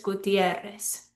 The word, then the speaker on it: Gutiérrez: So let's look at these names, López, Pérez, Hernández, Gutiérrez. Whenever they end in a Z, they're breaking the rule. López, Pérez, Hernández, Gutiérrez. We're stressing the second to last syllable.